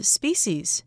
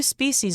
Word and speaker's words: species: 大家好，第一部分我们来介绍名词 species，也可以发音为 species。它的意思是动植物的种或是物种。例如 Scientists discovered several new species of frogs in this region.